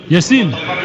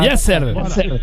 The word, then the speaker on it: Yasser: Yassine. Bon, on n'entend pas bien Yassine, faut parler un peu plus fort. Yassine. Faut prononcer chaque lettre. Yasser. Ah d'accord, Yasser.